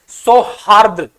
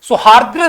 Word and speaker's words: सौहार्द: हैं अच्छे शब्द है सौहार्द सौहार्द सॉरी माफ कीजिएगा सौहार्द शब्द है और यहीं पर गलती हम कर देते हैं सोहा र ये देखो सोहद्र नहीं होता है इसका ब सबसे